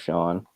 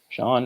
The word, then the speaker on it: Sean: So that's the S-E-A-N spelling of Sean, which I always liked. There's the S-H-A-W-N, which is phonetically, you're not going to screw that up. Sean and Sean, same thing.